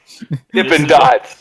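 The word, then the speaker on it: Dippin' Dots: life being the Kancil dippin dots this intimidates podcast now corporate planning first of all we're gonna say it right it's dippin dots now it's dippin dots yeah there's no G cuz I thought they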